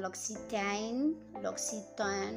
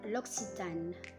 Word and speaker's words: L'Occitane: Dan ini bukan L'Occitane, non, je ne sais pas comment vous prononcez ça, mais en fait on dit L'Occitane, L'Occitane.